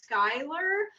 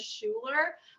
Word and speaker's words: Schuyler: It was about like vampires, and the main character's name is Skylar, but it was spelled like Schuyler Sisters, like in Hamilton, so it looks like it says Schuler.